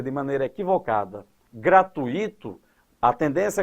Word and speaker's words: gratuito: Gratuito é a construção correta e sem acento. Quando você pronuncia de maneira equivocada gratuito, a tendência é colocar um acento porque aí forma um hiato.